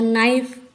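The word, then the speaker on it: knife: तो साइलेंट हो गया नाइफ यहां पर भी के एन के पहले आया है तो साइलेंट हो गया नॉलेज नॉलेज में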